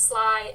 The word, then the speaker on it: SLII: So the first letter of each of those spells out SLII, which we can pronounce SLY, and of course also conveniently alludes to the fact that stalkers are very sly in their criminal behavior.